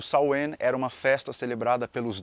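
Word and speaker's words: Samhain: Hells Eve dos cristãos o samh ou saen que é a pronúncia cor Eta era uma festa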